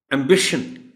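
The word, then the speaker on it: ambition: एम्बिशन, एम्बिशन, बी पर stress है.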